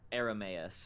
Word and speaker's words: Airamais: Aramus.